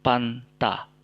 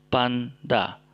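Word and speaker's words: πάντα: kita gunakan di sini Vanda Vanda bukan Fanta tapi Panda Oke ini berarti seluruh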